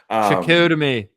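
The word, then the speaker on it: Chicoutimi: Shakutami.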